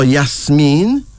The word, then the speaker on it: Yasmin: around the world also spelled as Yasmin oh yes mean the name symbolizes friendliness and sweetness and then